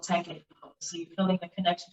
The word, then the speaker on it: Teken: So in Egypt, it is called Tekken, which is spelled Teken. Tekken.